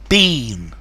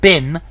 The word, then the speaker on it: bean: a movie fans definitely Bean it's not bin it's Bean a dust bin it's Bean the e in Bean it's a long I he would make it